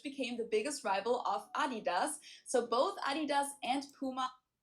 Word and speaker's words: Adidas: So, I didn't know that this was a German brand referring to because they usually pronounce it Adidas and in Germany we say Adidas. Adidas where I come from.